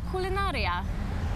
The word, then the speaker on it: Kulinaria: And it is called Kulinaria. Perfect pronunciation.